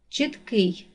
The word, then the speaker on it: чіткий: падає на перший склад чіткий наголос падає на другий склад 11 наголос падає на